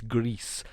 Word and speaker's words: GRIS: believe that's why it's greece because it's not french so it's not gree like the french would like not pronounce the s i think in spanish it means gray and so it's greece the s is pronounced